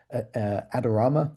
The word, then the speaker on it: Adorama: So this is a good example here where for Apple's AirPods Max, Adorama, that's how you pronounce it, are basically coming at the top.